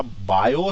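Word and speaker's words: Biot: इसका मतलब जो तुम्हारा बायो सेवर्ट लॉ से आया था, टी साइलेंट, तो बायो सेवर्ट लॉ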